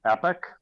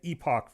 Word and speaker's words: epoch: I say epic. Yep, you say it right. I said epoch for years and then looked it up.